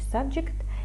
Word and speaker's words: subject: має значення тема і зверніть увагу як вимовляється subject і так вимовляється іменник та прикметник бо якщо subject це дієслово То вже буде інша вимова Ну ось пишемо іменник